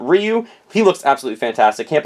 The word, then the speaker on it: Ryu: Then I also got I always pronounce this wrong, but I think it's Ryu. And if you pronounce it in the original language, it's very, very fast and it's very difficult to pronounce, but Ryu.